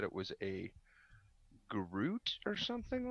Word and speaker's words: Groot: said it was a Groot or something like that like G or like almost like fruit but gr instead of f Ruit inches uy t